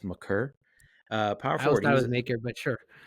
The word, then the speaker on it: Maker: I used to say Maker, but apparently it's Maker.